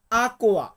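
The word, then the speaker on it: acqua: বলি এটাকে আমরা ইতালিতে বা ইতালিয়ান ভাষাতে বলবো আকুয়া আকুয়া মানে হচ্ছে পানি পরবর্তী শব্দটি আছে জুস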